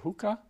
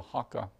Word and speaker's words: haka: to look at is called a haka sometimes called hookah but the I like the this seemed to be a closer to the pronunciation is called the haka this is what we